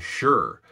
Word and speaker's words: sure: Have you ever wondered why English pronounces words like sugar and sure with a sh sound?